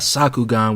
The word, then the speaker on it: Sakugan: Next up, we got Sakugan, which rhymes with Bakuman, which rhymes with Bakugan, which is nothing but a Gurren Lagann ripoff.